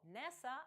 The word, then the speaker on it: NASA: Однак, схожа за спелінгом комбінація NASA – National Aeronautics and Space Administration – це акронім, бо NASA вимовляється як слово, а не послідовність окремих літер.